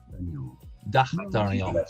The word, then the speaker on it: D'Artagnan: How do you pronounce D apostrophe ARTAGAN? So, exactly. Just like that. For now. D'Artagnan.